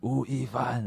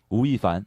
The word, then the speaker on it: 吳亦凡: That's my Chinese name, Wu Yi Fan. It's going crazy, right? How do you say it? Wu Yi Fan. Wu Yi Fan? Yeah. Wu Yi Fan.